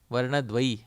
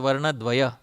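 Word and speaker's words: varṇa-dvaya: a two syllable lady varnadway not varanadvaya it is varna dway two syllable lady krishna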